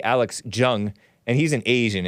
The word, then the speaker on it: Jung: Alex Jung, and he's an Asian. I don't think it's pronounced Young for his sake.